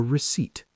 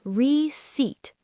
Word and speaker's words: receipt: It is called a receipt. The P is silent. Ah, receipt.